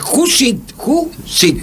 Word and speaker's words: Jusid: No, es Judicit. Muy bien. Muy bien, paramos en sílabas.